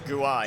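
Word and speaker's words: Guéhi: made a mistake there Guai apparently it's pronouns Guai I'll try and remember that gner on and Mitchell off Palace and Redal pronounced yellow card for Jack Harrison okay I'm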